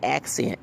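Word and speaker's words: Ak'Sent: If you wanted someone to portray you, please get Accent. And Accent is spelled AK apostrophe SINT. Instead of saying Accent ACCENT, like you put on your food.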